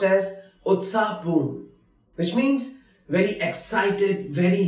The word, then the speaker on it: उत्साहपूर्ण: Utsahpoorn, which is pronounced as Utsahpoorn, which means very excited, very lively.